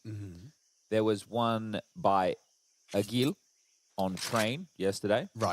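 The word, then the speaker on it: Ag1l: So it's pronounced Agil. Agil.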